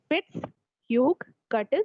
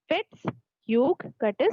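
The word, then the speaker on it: Fitz-Hugh-Curtis: Peri hepatic एडहेशंस को हम और क्या बोलते हैं, फिट्स ह्यूग कर्टिस syndrome, FUC syndrome, फिट्स ह्यूग कर्टिस syndrome.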